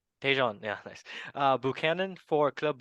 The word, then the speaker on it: Tajon: Tejan. Tajon.